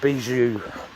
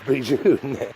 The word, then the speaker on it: bijou: me in the comments what's bizu in french well it's actually beat you in french it's bijou now what is it